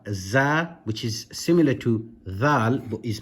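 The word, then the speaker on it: ذ: Again, with your tongue touching the top of your with your tongue touching the upper teeth.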